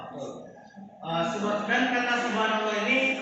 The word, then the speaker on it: Subhanallah: pertama tasbih tasbih dalam e bahasa Arab ee bacanya Seperti apa ada yang tahuhanallah apa subhanallah subhanallah betul ee dan kata Subhanallah ini e terdiri dari dua kata yaitu Subah